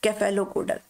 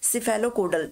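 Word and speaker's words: cephalocaudal: उसको बोला जाता है कैफेलोकोडल, ठीक है, सिफेलोकोडल, कैफेलोकोडल जो आपका प्रोनाउंसिएशन हो वो ये होता है, तो ऑप्शन तो आपका ये करेक्ट हो जाएगा।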